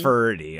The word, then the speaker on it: Ferdy: His name is, what, Nerdy? Ferdy. Okay, Rhymes with nerdy.